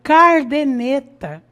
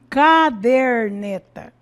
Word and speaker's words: caderneta: Então nós vemos aí cardeneta, né? ao invés de caderneta, típicos de pessoas de